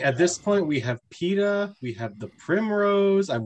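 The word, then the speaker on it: Peeta: It is pronounced PETA. Yeah, spelled, and but that's the character's name in Hunger Games. It's not Peter, he's PETA.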